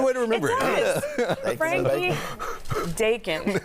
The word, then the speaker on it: Dakin: Are you lying because you said his last name rhymes with bacon? It's a good way to remember it. Frankie Dakin, like bacon.